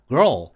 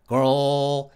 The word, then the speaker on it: girl: 이렇게 과학에 근거한 설명으로 girl 이걸 발음하는 원리를 알게 되셨으니까 발음 연습을 몇 번 해보시는데요. 억양 변화 없이 girl 이러면 좀 옛날식 로봇 소리 같으니까 한번 올라가는 억양, 내려가는 억양으로 연습해 보겠습니다.